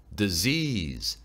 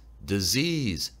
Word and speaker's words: disease: Disease, disease, Z에 강세와 억양이 들어가고요. 좀 띄워줍니다.